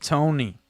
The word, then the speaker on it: Toni: Tony spelled with an I is the feminine. Spelled with a Y is masculine. It's still pronounced Tony.